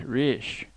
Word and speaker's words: rich: "Our English adverbs do not terminate in mon, and we pronounce the ch as if there were a t before it. We say rich."